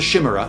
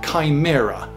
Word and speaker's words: chimera: from from ancient sources ch is almost always k uh if it's greek uh ch comes out as curse so this this monster this is this isn't a shimmer this is a chimera um and um even